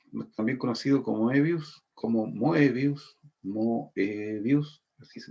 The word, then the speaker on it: Moebius: Este cómic está hecho por Jean Giraud, o también conocido como Moebius, así se pronuncia, y es el dibujante, probablemente el dibujante